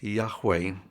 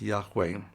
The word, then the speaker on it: Yahweh: the correct pronunciation was the most educated guess is that it was pronounced Yahweh yah there a chance was pronounced y but as the most logical and educated guest it was pronounced Yahweh so in all probability